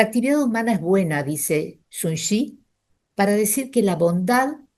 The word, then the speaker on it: Sun Tzu: No se escribe así, se escribe Sun Tzu con Z, pero se pronuncia Sun Tzu.